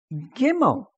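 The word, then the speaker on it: ג׳ימל: and the next one is called gimmel gimmel like g okay and how do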